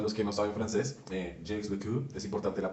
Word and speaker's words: Jacques Lecoq: Jacques Lecoq, es importante la pronunciación.